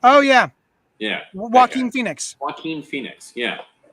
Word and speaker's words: Joaquin: Joaquin Phoenix, yeah. It's pronounced Joaquin.